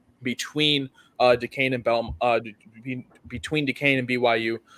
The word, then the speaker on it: Duquesne: And we're taking Duquesne. That's how you pronounce it, people, not Duquesne or whatever you want to call it. It's Duquesne.